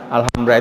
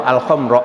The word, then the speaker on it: Alhambra: Alhambra itu Al-Khomro ya mestinya. Al-Khomro.